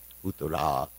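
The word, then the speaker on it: Uttarā: So anyway, they had the same name with a different pronunciation of the last letter. Uttara is the lady, Uttara is the man.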